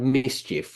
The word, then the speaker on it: MSCHF: I think it was definitely human blood because the brand Mischief, which I think that's how you pronounce it, it's spelled MSCHF.